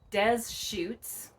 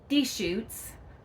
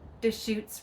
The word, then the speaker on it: Deschutes: Well, it's not Des Chutes, and it's not Deschutes. It is the Deschutes River. Deschutes.